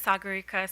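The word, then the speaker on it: Sagarika: to provide comments today uh my name is Sagara it's spelled first name spelled s a g a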